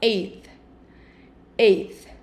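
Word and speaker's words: eight: fácil tá 6 6 lembra que o GH aqui é mudo tá então bem tranquilo como se estivesse falando Ei 9 perceba que na escrita não tem a letra e tá então fica e número 10 vamos comigo desde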